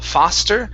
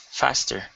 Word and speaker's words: faster: okay here it is instead of pha foster give me an a short a fa faster ah faster okay good um long e